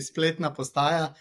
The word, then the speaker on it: Spletna postaja: we get here cool um Bruno thanks for pronouncing our name it's called actually split naaya it means it's funny it means web station